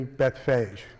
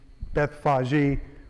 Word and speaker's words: Bethphage: younger scientist and so i just have the preference of the word phage over faji and so i pronounced the city beth phage but both pronunciations are